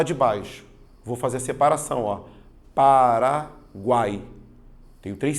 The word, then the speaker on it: Paraguai: o som você fala Paraguai ou você fala para gay você vai perceber que você fala Paraguai ou seja a letra U ela é pronunciada se ela é pronunciada